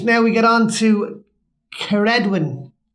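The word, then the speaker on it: Ceredwyn: we get on to Kar Edwin c-e-r-e-d-w-y-n now it could be could be Sarah Edwin but I think it's Karen let's not see because yeah in the world yeah in the Welch in particular it's always a hard City yeah but right so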